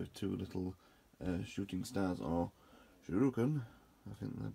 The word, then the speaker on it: shuriken: This time comes with two little shooting stars, or shuriken, I think they're pronounced, instead of a morning star.